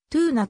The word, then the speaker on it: ツナ: まぐろかつおであるなお米軍統治の歴史の長かった沖縄県ではトゥーナと発音されることが一般的である一般には試合